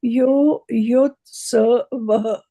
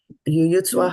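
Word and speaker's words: युयुत्सवः: So instead of saying sa, you were saying swa. Right? Yuyutsavaḥ. Yuyutsvaḥ.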